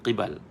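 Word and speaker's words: قِبَل: silap berubahlah maknanya ya perkataan qibal bukan qab Kalau qab sebelum qibal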